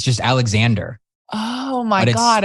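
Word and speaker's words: Alexandre: like, I got to ask, how do you pronounce this? And they're like, Alexander Farms. It's just Alexander.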